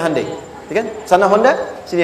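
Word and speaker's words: Hyundai: sana bikin Honda sini Hai hundai Kan dibacanya Handai ya kan sana Honda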